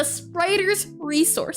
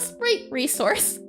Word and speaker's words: The Spriters Resource: I've been saying this website for the I've been saying it wrong for the longest time. The spriters resource, not the sprite resource.